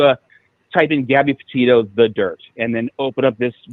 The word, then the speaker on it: Dyrt: y d yrt y so it's Gabby potito the dirt dyrt okay the dirt all right so this